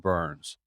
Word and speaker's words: Byrns: it's very ironic that my last name is pronounced burns and i always joke